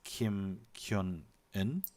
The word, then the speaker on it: Kim Kyung-eun: And thanks to Yujin in the chat for correcting my pronunciation. It's Kim Kyung-eun. Yeah. Kim Kyung-yoon.